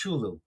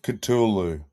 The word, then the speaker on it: Cthulhu: Call of I can't even pronounce Chulu. Call of Chulu? Call of Cthulhu.